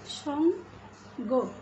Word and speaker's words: সঙ্গ: তারপরে দুঃখ ইত্যাদি এই ধরনের শব্দগুলো সঙ্গ তার আগে অনুস্বার রয়েছে আবার দুঃখ শব্দটার আগে বিসর্গ রয়েছে, তাহলে আমরা কি উচ্চারণ করছি, সঙ্গ গয়ের ওকার এবং দুঃখ, দুঃখ এখানে